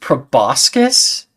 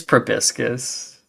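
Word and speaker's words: proboscis: have a probiscus yeah is it pronounced prascus are you weird it's probiscus yeah okay love you honey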